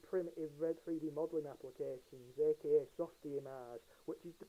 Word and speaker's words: Softimage: Because again, this was done in primitive 3D modelling applications, aka Softimage, which is the correct way to pronounce it.